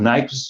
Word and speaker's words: Nyquist: Dizem que o Nyquist, de fato, pronuncia Nyquist, né?